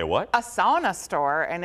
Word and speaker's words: sauna: A sauna store, and if you're Finnish, you say sauna. Sauna, yeah, that's. Sauna. I've been corrected many. That's the right. That's the correct pronunciation.